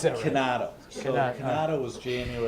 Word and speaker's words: Chinato: how do you pronounce it? Canato.